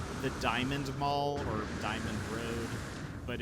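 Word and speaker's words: Dimond: the diamond mall or Diamond Road but it's spelled d-i-m-o-n-d and there's a lot of debate on whether it's uh pronounced diamond or like demand Maybe um most people say diamond I have never heard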